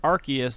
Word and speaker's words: Arceus: Well, Yeah, yeah, Pokemon a Legends free plug Arceus. Hey. Free plug for Nintendo. Not that you fucking need it. Also, did you know that it's pronounced Arceus, not Arceus, because Arceus sounds like arse.